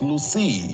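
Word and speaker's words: Luscii: COVID Connect service is available on Play Store and iOS as Lucy. Lucy is spelled L-U-S-C-I-I.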